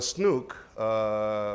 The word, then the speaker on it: CNOOC: If Snook, which I think is what the Chinese National Oil Company is pronounced, CNOOC, yeah.